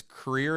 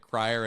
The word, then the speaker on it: Creer: So, it's Creer is how you say the quarterback's last name, even though it looks like Crier and it's Jackson Tegler.